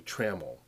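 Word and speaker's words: trammel: A label can often produce a traml. I believe I'm pronouncing that correct.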